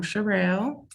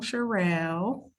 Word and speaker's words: Cherrell: As you know, I'm Cherrell, and that's how you say my name, Cherrell.